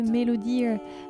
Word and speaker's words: MelodEar: Voilà donc les 3 petites applications pour cette petite démo de Melodear. Melodear, ça s'écrit M-E-L-O-D-E-A-R, la mélodie de l'oreille.